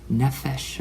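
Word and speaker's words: nefesh: I don't mispronounce this spelled n-e-f-e-s-h nephesh or something and it means neck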